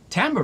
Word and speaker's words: timbre: I shouldn't have said that Timbre it sounds different than how it's spelled and we have the French to thank for that Tamba refers to the unique